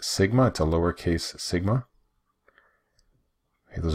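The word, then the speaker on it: σ: mu this is our population standard deviation it's pronounced Sigma two lowercase Sigma hey those are population parameters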